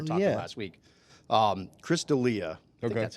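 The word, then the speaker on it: Chris D'Elia: up we were talking about last week um Chris Delia okay that's how you say his name so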